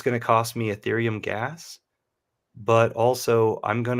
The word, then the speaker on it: Ethereum: contract with hex tokens via erythium coins is that right um the the pronunciation is ethereum i'm sorry yes and